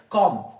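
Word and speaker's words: calm: words ऐसे words जिसमें बी क्या होते हैं साइलेंट होते हैं जैसे हमारे पास एक लब्ज है कॉम कॉम यहां प भी क्या है ये कॉम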